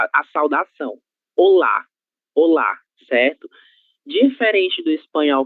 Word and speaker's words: olá: em la penúltima sílaba, em português, esse saludo terá como sílaba tônica a sílaba lá, ok? Então, a forma correta de pronúncia será olá, olá, certo?